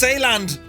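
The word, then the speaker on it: Zeeland: and uh oh no zealand is pronounced saland good man murphy we're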